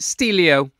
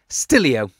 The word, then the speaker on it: Stillio: it and then I realized that Stelio is probably pronounced stillio which makes sense because it captures still images of websites so every time I